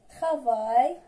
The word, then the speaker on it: travail: Maintenant, la lettre A, I, L se prononce I. Se prononce I. ناخذ مثال travail et bataille.